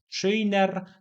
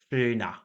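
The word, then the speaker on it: schöner: Ta końcówka zawsze wymawiana jest jako takie lekkie a, czyli nie mówimy szyjner, tylko takie a szyna, szyna.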